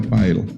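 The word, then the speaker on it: Pyle: P-Y-L-E, entonces se pronuncia Pail. Pail, ajá. Pero nosotros dijimos, si le ponemos así, en agradecimiento a él, Pile va a decir.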